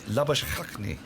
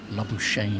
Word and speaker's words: Labuschagne: Labuschagne is how you're pronouncing it. Well, I suspect he's now Marnus Labuschagne. Labuschagne. I've heard Labuschagne quite a bit in Australia. Yeah, that's what they call it. Yes, they do like Shane. It's a syllable that's very popular in Australia.